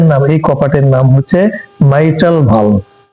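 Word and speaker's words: mitral: এটা এটার নাম এই কপার্টের নাম হচ্ছে মাইটাল ভাল কি নাম এমই মাই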